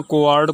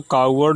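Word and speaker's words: coward: ही वॉज नो कोवार्ड, यहाँ कोवार्ड को कावर्ड भी हम लोग पढ़ते हैं, यद्यपि प्रोनाउंसिएशन कोवार्ड ही होगा।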